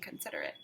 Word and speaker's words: considerate: Lilly had a hard time being considerate. Friends, can you say considerate? That's a vocabulary word. Let's clap it. Considerate. Let's count it. Considerate. Considerate has 4 syllables.